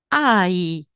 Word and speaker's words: hai: abbiamo detto o E qua si pronuncia ai e la h sempre non si pronuncia E tu quanti anni